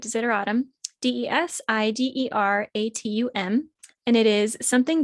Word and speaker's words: desideratum: of the week is de zitter autumn i think it's how you say it to zitter autumn d-e-s-i-d-e-r-a-t-u-m and it is